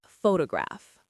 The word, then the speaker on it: photograph: The word photograph. Photograph. The stress is on the first part.